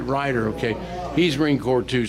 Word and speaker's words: Reutter: Okay, let's pronounce that right. Reutter.